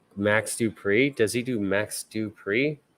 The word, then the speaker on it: Dupree: But like Max Dupree, does he do Max Dupree? No, he goes Max Dupree. Because it's not Max Dupree, it's Max Dupree. It goes up, Byron.